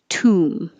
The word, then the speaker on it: tomb: 29, forget about the O and forget about the B. It just sounds like oo, tomb.